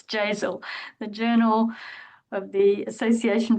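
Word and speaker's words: JASAL: I don't know how to pronounce it, Jazzel. Jasel, is it pronounced like nasal? Yes, it's Jazel.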